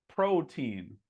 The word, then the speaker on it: protein: Okay, so this word is not protein. It's not protein. It's protein. Protein. Okay. Maybe this one's not that hard, but I'm giving you guys a break. So it's not protein. Protein. Protein. Again, this trips people up. Tein. Why would that sound like this? Well, I don't know, but that's the way it is.